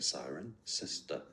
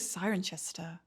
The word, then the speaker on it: Cirencester: Siren. Yeah, just like a siren. Sister. Oh my god, Siren Sister. Siren sister. I thought it was Sirenchester. Oh my god. Siren Sister.